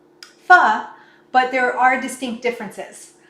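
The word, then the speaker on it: phở: know if you've had spelled p-h-o but pronounced fa is a vietnamese dish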